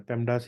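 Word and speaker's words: PEMDAS: है पडस होता है पी ए एम डी ए एस अगर मैंने सही से स्पेलिंग को याद किया है तो जैसा आपने पढ़ा होगा बोर्ड मास वही है बेटा पेम डास ही है आपके पास में इसे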